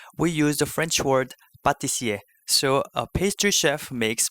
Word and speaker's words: pâtissier: Now with this, please pay attention to the pronunciation because although the two are written with the same consonant, the first P from the pâtissier is pronounced like the French pa, whereas the second P from pastry is pronounced like pe.